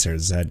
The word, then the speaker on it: Sarah Z: And by the way, it's pronounced Sarah Zed. She's Canadian.